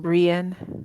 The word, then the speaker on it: Brya: My two different MCs for It Lives in the Woods are is it Bria, Brya, and Brienne. Yeah. Pronounced Brienne.